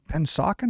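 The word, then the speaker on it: Pennsauken: Tell me a little bit about growing up in Pensauken.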